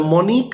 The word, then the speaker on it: Monique: their exam notable representatives um include monty uh monique vittig this is the first name monique m-o-n-i-q-u-e